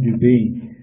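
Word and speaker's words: duvet: goods down due date 이렇게 나왔는데 이게 오리털로 된 그런 이불이에요. 이불, due date 이게 이불이야. T가 발음이 안 돼.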